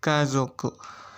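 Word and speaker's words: 家族: Bacanya kazoku.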